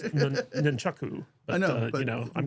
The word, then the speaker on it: nunchaku: There's no M in nunchucks.